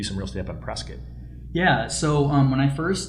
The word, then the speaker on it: Prescott: Whenever I do social media videos, I always have to say Prescott, which really is Prescott to all you out of towners, because people are like, "Where's Prescott?